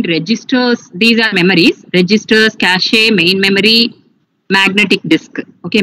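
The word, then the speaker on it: cache: cachier c a okay some people will pronounce cash memory but the correct is cach a okay so cash a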